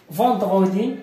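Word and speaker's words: vendredi: فوندغودي هذه الجمعة، هذه كل جمعة. فوندغودي هذه كتقرا اون، هذه او ان عندما تجدها في كلمة فإنها تقرا اون، بحال اونكور، بحال اوكي اون، هذه تقرا اون، اوكي.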